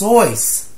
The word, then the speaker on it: Seuss: Dude, it's pronounced Soyce.